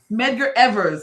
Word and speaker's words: Medgar Evers: Medgar Evers, there's an S on it, his body, and he looked identical to when they buried him.